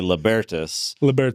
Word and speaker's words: Libertas: You can pronounce it however you want. We say Libertas, but okay.